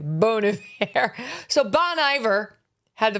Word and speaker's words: Bon Iver: See, it's classier if you pronounce it the French way. Bon Iver.